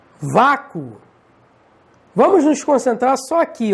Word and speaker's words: vácuo: Vácuo. Vamos nos concentrar só aqui, ó. Vácuo. E agora, hein? E agora é osso, né? Porque quando você pronuncia vácuo, o O de vácuo tem som de U também.